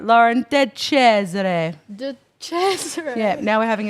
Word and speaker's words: DeCesare: DeCesare. DeCesare.